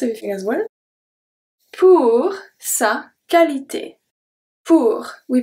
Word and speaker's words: qualité: Pour sa qualité. Pour. We pronounce everything. Sa. We pronounce everything. Qualité. Qualité de U after Q is silent. De U after Q is always silent. Always, always, always.